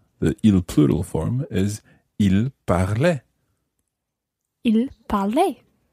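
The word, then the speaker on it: parlaient: And in fact, the il plural form is spelt P-A-R-L and the ending is A-I-E-N-T. Il parlait. Il parlait. So, again, there's a silent ENT at the end of the il form.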